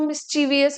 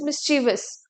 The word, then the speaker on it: mischievous: इट्स नॉट मिस्चीवियस, इट्स मिस्चीवस.